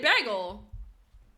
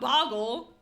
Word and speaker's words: bagel: She said the way you sound, it sounds like boggle. No, I said bagel, not boggle. Now it feels like mush. Like my brain is actually mush, you guys. There's no way I say it like boggle.